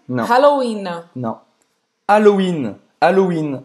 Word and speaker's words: Halloween: Halloween, Não. Halloween. Não. Halloween. Halloween. A gente não vai pronunciar esse H.